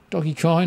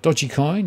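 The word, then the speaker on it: Dogecoin: as a possible entry doggy coin or dodgy coin depending on how you want to pronounce it the popular mem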